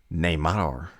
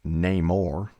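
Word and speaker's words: Namor: Neymar's dialogue reveals that rather than being pronounced name or like the original Comics it would be pronounced Neymar in order to bring the character more fully in line with his new Aztec mine Origins and that's where that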